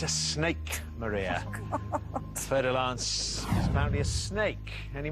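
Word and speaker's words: fer-de-lance: What type of animal is a fer de lance? A snake, a bird, or a crab? What type of animal is a fer de lance?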